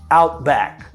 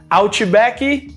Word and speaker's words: Outback: little outback out back sometimes the at the end of the word back is not even pronounced you want to say out back hey you want to go to outback yeah let's go to outback out back out back sounds good out your backy no outback all right let's move